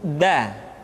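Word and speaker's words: د: Selanjutnya pengucapan huruf da. Da diucapkan dengan menyentuhkan ujung lidah kita dengan bagian gusi-gusi dua gigi seri bagian atas.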